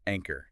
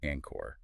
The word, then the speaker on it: anchor: sure everyone got it anchor not Anor got it exactly and